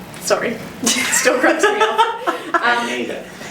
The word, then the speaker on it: Kaneda: Kaneda. No, that's not how it's spelled. Ne. Kaneda. If you listen to it, that's how they say it.